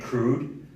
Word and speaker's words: Crewd: It's called Get Crude. Crude is spelled CREWD.